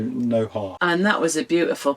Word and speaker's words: Noja: Noja, yeah. Yeah, it's spelt with a J, but obviously their J's are their H's, so Noja.